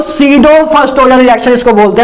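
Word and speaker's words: pseudo: guys इसको पी सीडो नहीं बोलते, मतलब पी साइलेंट है, पता नहीं कैसी क्या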